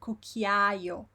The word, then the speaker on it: cucchiaio: But in Italian, unless it's this case ciao and ciao, the vowels are pronounced and you want to hear it properly. So it would be cucchiaio, cameriere. Every single syllable is pronounced properly.